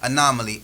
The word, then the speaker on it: anomaly: conversation say you're right anomaly a-n-o-m-o-n-a-l-y anomaly now you added an extra syllable in there a-n-a-a q so